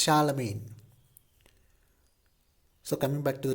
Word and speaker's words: Charlemagne: to the next topic role of Charlemagne the pronunciation of that that name is Charlemagne cha la main Charlemagne it's not Charla magnin okay it's Charlemagne so coming back to the topic in the